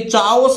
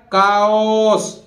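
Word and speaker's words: chaos: इसी तरह देखिए चाओस नहीं है, ये सी के बाद एच आ रहा है तो एच विल बी साइलेंट, तो कैसे बोलेगा काओस, काओस बोलते हैं, कंप्लीट डिसऑर्डर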